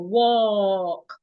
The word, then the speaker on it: walk: It has the O sound. Walk. Americans will say, oh, walk. So these two words are not pronounced the same way.